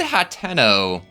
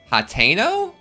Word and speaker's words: Hateno: Also, she said Hatenno Hateno. I guess I'm pronouncing Hatenno wrong the entire time, too.